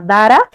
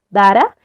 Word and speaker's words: Dhara: Facebook que se llama Dara. Se escribe como Dhara, Dara, es a las 8 de la noche de Bolivia.